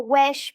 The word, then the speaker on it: huit: du bois ou autrement prononcent naturellement wesh pour dire h. Mais à Villeneuve, tout le monde dit huit comme je l'ai entendu dire par des gens qui parlent français.